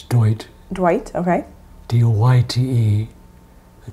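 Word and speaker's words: Doyte: It's Dwight. Dwight, okay. D-O-Y-T-E. The T is silent on the back.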